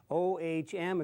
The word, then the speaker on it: ohm: O-H-M, it's pronounced ohm.